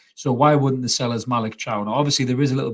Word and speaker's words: Malick Thiaw: occasion I'm talking about this lad right here Malik Chow as it's pronounced who is a German Defender a right-sided